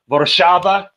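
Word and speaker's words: Warszawa: is from it's from uh varshava which is uh warsaw and that's how you pronounce it in uh in polish boroshava uh and for those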